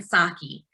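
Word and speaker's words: Psaki: white house press secretary her name is jen saki um i think it's spelled p-s-a-k-i and you know she's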